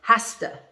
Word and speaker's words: has to: do that right or hasta she has to go she has to do this she has to do that okay so we pronounce it in a different way we push the sounds together okay when you use